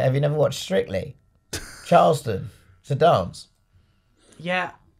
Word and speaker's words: Charleston: said by the way you pronounce the cha like chicken not like Charlotte being a Fulham supporter